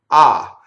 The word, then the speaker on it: ah: Okay, so the first word is the interjection ah, and the H is silent, obviously, right?